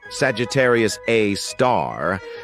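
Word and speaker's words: Sagittarius A*: an exception we've got Sagittarius A which is pronounced Sagittarius A star this space monster is mostly dormant and rarely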